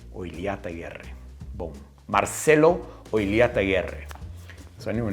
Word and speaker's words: Oillataguerre: So OLLATAGUERRE is how they say it here in Australia, but if you were to say it properly, it's OILLATAGUERRE. So you got to roll that R, and the two L's is a lia sound.